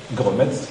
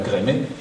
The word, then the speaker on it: Gremetz: me souviens l'année dernière à la télévision, un journaliste qui demandait à Maxime Gremetz, qu'on doit dire Grémet, d'où venait son nom aussi bizarre.